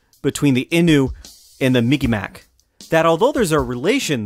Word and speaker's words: Mi'kmaq: The best I can pronounce their name is Mi'kmaq. That's the best I could do, so please forgive me. Commonly referred to by outsiders as the Mi'kmaq.